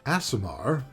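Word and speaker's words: aasimar: to say about asamar asamar pronounced asamar thank goodness I got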